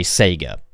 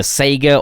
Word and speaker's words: Sega: to talk different I I'm pretty sure this is just how Australians would say Sega the fact is like even among like British and American people it's either Sega or it's Sega and it's like they